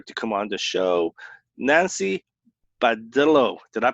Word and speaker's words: Nancy Badillo: Nancy Badillo. Did I pronounce that right?